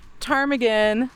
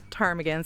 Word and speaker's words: Ptarmigan: So, here we are at the Tarmaggan statue. Um, I know I said earlier that people couldn't spell or pronounce Tarmagan, so they called it chicken.